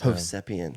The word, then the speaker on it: Hovsepian: my name hpan it's hpan okay that's how you say it yeah I like it